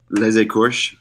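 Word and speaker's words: Les Écorchés: but today we're talking about Westworld, episode 7, Les Écorches, I guess. That's how to be pronounced. I know you looked that up. Les Écorches.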